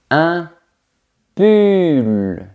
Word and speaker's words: pull: Un pull, c'est le vêtement. On a le son u.